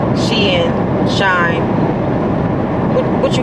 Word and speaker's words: Shein: pronounce how everybody pronounces she in is shine s-h-e-i-n should be pronounced shine but somehow the [